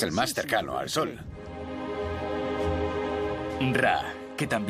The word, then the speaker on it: Ra: Qué mejor sitio para rendir pleitesía re que este, que es el más cercano al sol. Ra, que también se pronuncia Re, era el dios del